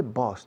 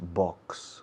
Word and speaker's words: boss: My boss, y se dice boss, por favor no digáis box. Box es caja. Boss. Es curioso que os cuesta pronunciar la X, pero luego con la palabra boss me dais una X siempre. Y estoy desesperado pensando, tirándome los pelos. Boss, un S simple, un S líquida, boss.